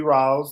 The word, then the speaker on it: Rawls: So I'm Rawls. You did say it right, like Lou Rawls.